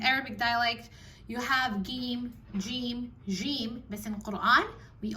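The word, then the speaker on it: ج: So if you have to work on it, make sure you start off with a stronger pronunciation of the letter jim, not jim, it's jim.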